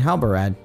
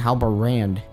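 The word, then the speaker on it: Halbarad: did you find halberad I feel like for the entire playthrough I have been saying Alba ran like there was an end here I might have been saying his name wrong the entire series wow did you find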